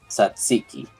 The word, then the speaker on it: tzatziki: It's a bit hard to pronounce. Tzatziki.